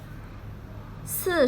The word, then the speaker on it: 四: 四 sounds like the sun or sorry in English, however, 是 has no